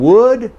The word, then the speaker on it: would: Now, would and will are well separated, well distinguished in native speech, but people who come to English and do not understand the silent L start to put L here, and you create confusion for your listener.